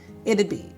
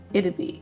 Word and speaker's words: it'd be: So, you have to say it' be, not it be.